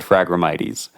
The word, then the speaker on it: Phragmites: google and clicked read it said phragmites and i've heard it i've heard it pronounced from a few experts calling it fragramites yeah so i i think that's what we're gonna go with okay so we've been